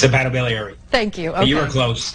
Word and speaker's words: hepatobiliary: is dr oscar k serrano a transplant and hepa biliary surgeon at hartford healthcare i hope i pronounced that right doctor it's a battle beliary thank you you are close all right so